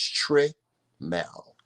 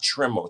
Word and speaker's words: Trimmel: say tremble or trimmel it's not trimmel tremel is t-r-i-m-m-e-l my name is just how it's pronounced tremel Tre yes let's say